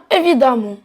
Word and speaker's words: évidemment: On enlève le ENT, on le supprime et on ajoute amont, donc ça devient évidemment. Et attention, le E se prononce A dans ce cas.